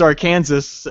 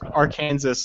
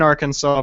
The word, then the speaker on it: Arkansas: chat okay ask me now how do you pronounce Aran Aransas see we AJ thought it was AR Kansas and everybody that I know internationally always says that it's AR Kansas even though everyone in in Arkansas pronounce this is Arkansas no Ians I know